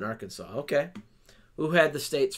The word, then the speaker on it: Arkansas: stuck thus would provide we pronounce the last s in Kansas but not in Arkansas okay who had the